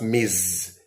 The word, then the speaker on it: Ms: pronounced as s but Ms is pronounced as Miz that s is pronounced as Z So when you say